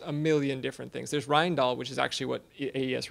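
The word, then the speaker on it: Rijndael: there's serpent there's a million different things there's rindal which is actually what AES really is um which is probably pronounced pronounced wrong I got it right excellent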